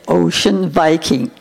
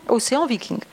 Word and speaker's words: Ocean Viking: Voilà, il faut dire Ocean Viking. On a entendu tout. Océan Viking. On a entendu toutes les prononciations possibles. Et hier, on a entendu Ocean Viking, qui est la seule prononciation anglaise.